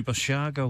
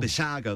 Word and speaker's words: Basiago: is it beside gee I always get his name wrong Andrew basiago Vassago that's it now this is a very interesting